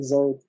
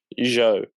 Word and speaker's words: Zhou: like he was talking about how this like Zoe is sorry, how do you say his last name? Joe.